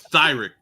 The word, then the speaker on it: Tyreek: Tyreek Pitts. That's the guy that mentioned earlier, Swifty. I think that's more of a Tyreek. I think it's Thyrick.